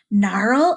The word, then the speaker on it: gnarl: and you know what I'm gonna tell you Naru and Nash we'll start with a silent G when G and n are together it makes the sound mmm just like Nome that